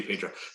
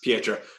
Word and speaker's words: Pietro: I always say Pedro. Pietro. It's kind of like George and Jorge from Halo Reach. His name's George, but the way it's spelled.